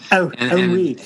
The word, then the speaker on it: Henri: I used to say Henry Corbin, and then I heard somebody pronounce it in the French way.